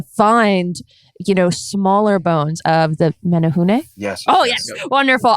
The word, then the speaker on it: Menehune: it down, but I don't trust myself in pronouncing it. Hobbits. Yeah. The what? Menehune.